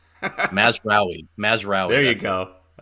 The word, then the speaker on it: Mazraoui: Mazraoui.